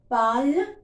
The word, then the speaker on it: parlent: Je parle, tu parles, il parle, elle parle, nous parlons, vous parlez, ils parlent, elles parlent. So, although it is ending with ENT, we will not pronounce.